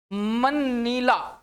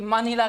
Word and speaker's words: मनीला: और मनीला मनीला sorry मनीला पढ़ेंगे इसको मनीला य की कैपिटल है और करेंसी क्या है बच्चे पैस कई बार इसको कई बार बच्चे मनाली प्रोनाउंस कर देते भाई यह मनाली नहीं है चलते अगले क्वेन की